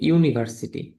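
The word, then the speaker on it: university: Hour এখানে ও এর উচ্চারণ আসতে এইচ এর উচ্চারণ বা এইযো সাউন্ড ও এর আসতেছে এইজন্য হচ্ছে এন আসবে। যদি আমরা বলি ইউনিভার্সিটি ইউনিভার্সিটি কিন্তু শুরু হচ্ছে ইউ দিয়ে।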